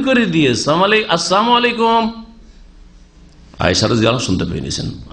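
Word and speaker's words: السلام عليكم: আজকাল অনেক মূর্খ মুসলমান আসসালামু আলাইকুম বলেন লামটা উচ্চারণ করেন না সালাম আলাইকুম মানে সাম মানে মৃত্যু সাম মানে মৃত্যু মানে আপনাদের মত হোক সাম আলাইকুম মানে কি আপনাদের মত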